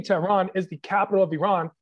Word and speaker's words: Tehran: So I say Tehran because it's the easiest way to pronounce it for everybody to enunciate. But it's actually Tehran. If you wanted to get extremely proper, it'd be Tehran. But Tehran works for me.